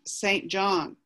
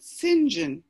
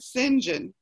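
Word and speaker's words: St John: it's spelt and so i would say that you'd pronounce that saint john but they pronounce it sinjin yeah so i'm glad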